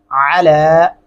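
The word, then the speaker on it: عَلَى: علی قومہ من بعدہ، علی، علا نہیں پڑھنا اس کو، علی گلے سے ادا کریں گے، قومہ، قومہ، بہت زیادہ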